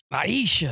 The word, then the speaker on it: Aisha: Aisha. You say it a little bit differently. Aisha. That's how you say it. You say it with like a gravelly voice.